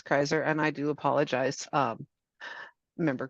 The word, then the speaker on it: Kreiser: It's pronounced Kreiser. That's what I thought. apologize. It's Yes, okay. please correct me in the future. It's Kreiser, and I do apologize, Member Kreiser.